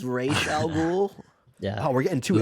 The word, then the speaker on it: Ra's al Ghul: Tyler, I believe it's pronounced Raish Al Ghul. It's Ra's al Ghul.